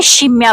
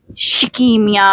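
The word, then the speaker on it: scimmia: इस का मतलब है कि बंदर और यह शिमिया को पढ़ा जाता है, शिकिमिया नहीं।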